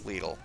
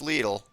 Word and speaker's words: Lidl: It's pronounced legal because the Germans, how'd you like me to shove runway six right up your ass?